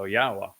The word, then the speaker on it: Yahowah: the a at the end of it so yahwah is the obvious answer should you say well